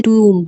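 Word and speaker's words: tomb: टूम ऑफ her memorial T ओ एम बी इसे टूम T double O एम टूम pronounce करना है you have turn this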